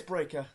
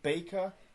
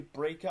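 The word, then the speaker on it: Breakker: You know, yeah, it is Breaker. Yeah, I keep calling him Baker. Yeah, it's actually Breaker. I know it rhymes.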